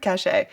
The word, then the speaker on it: cache: Cash or cache. There's no accent on the end.